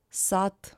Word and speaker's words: сад: Д is pronounced as T, город, сад, and so on.